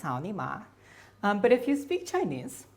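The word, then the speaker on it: 草泥马: llama looks like an alpaca llama and it's pronounced sauni ma but if you speak chinese you'll know that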